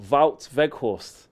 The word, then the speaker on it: Weghorst: Look, Wout Weghorst. That's how I said it right first time.